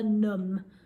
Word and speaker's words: numb: hide it num my toes and fingers were numb numb i would pause that video let's see